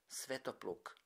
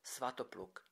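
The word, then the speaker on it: Svätopluk: His name is nowadays pronounced Svetopluk in Slovak and Svatopluk in Czech.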